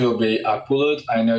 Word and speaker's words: Akbulut: And then last name will be Aqualut.